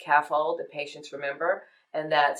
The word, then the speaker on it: CAFALD: my case, I use a mnemonic, CAFALD, pronounced CAFOLD, that patients remember, and that stands for, it's a mnemonic that stands for category, action, function, association, location, and description.